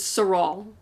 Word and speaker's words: Serault: No, we don't pronounce the LT. Okay. So it was Serault, I guess.